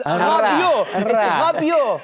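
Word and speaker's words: Rabiot: Rabio, it's it's Rabio, not for Hispanic names. Let's Let's give it a try. It's guttle.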